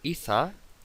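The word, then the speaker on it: Ithaa: Iza, así se pronuncia, es un restaurante underwater, subacuático, es decir, bajo el agua.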